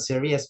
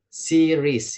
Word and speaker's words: series: No, it's not serious, but series, yeah?